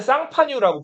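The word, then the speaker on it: 샹파뉴: 쌀롱 샬롱 이렇게 부르는데요 샬롱이 속해 있는 그 주가 지금은 이제 프랑스에 쌍파뉴라고 불리는 지역이거든요. 쌍파유 혹시 들어봤어요? 쌍파유를 영어로 읽으면은 샴페인이라고 읽어요.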